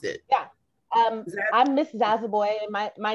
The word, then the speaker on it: Zoboi: Zaza, how do you pronounce it? Yeah. I'm Miss Zazaboy, and my name is Liberian.